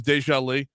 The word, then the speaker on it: Deja: Deja Lee, it's and it's spelled Deja, like déja vu, but it's Deja Lee.